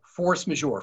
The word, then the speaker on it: force majeure: So, you know, here's the quick version of force majeure. First of all, it's French. I will spell it. It's force, F-O-R-C-E, majeure, M-A-J-E-U-R-E.